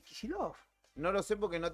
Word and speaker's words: Kicillof: Claro, ahí está votando el gobernador de la provincia de Buenos Aires, Axel Kicillof, o Dicen Kicillof. que vota por Milei. Kicillof, viste que muchos dicen Kicillof. Para mí es Kicillof.